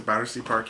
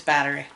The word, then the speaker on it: Battery: park in new york i always pronounced the battersea park in my head it's battery yeah so we went down